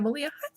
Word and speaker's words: Melia: was sitting next to rhymes with maria melia at the retreat and